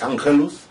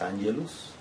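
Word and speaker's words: Angelus: hora del ángelus pronunciado la pronunciación antigua o del latín vulgar es ángelus y la pronunciación educada o culta des angels a las 12 del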